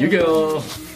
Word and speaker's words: Yu-Gi-Oh: it's time so Yu-Gi-Oh you guys were playing is that how you say it say Yu-Gi-Oh that's how you say it Yu-Gi-Oh so some of you guys are playing it